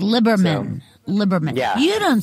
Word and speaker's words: Liberman: It's Liberman. Liberman. Yeah. You don't spell it that way.